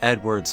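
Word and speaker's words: Eadweard: That being our protagonist, Edward Muybridge. Yes, his name had the same pronunciation as Edward.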